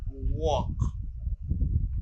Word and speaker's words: walk: This is walk, as in talk. Talk, walk. I walk. You do not pronounce L in these words.